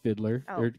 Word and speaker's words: FIDLAR: really really good the Fiddler um no it's just called Fiddler the fidler fidlar f i l a r is how it's spelled um they're a great